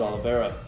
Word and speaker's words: Oliveira: tell you once again, we do not say Charles Oliveira. It is Charles Oliveira. Yeah. You got to stretch it out. That's how you say his name on this show, okay?